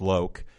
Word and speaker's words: Loc: Courtney Cox Tone Loc which I was just informed is actually pronounced loke and Dan Marino of